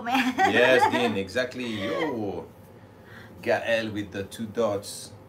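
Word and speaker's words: Gaël: No one says Gael. They say Gael. Gael. But Gael. They struggle pronouncing the L already, so forget about the E tremor.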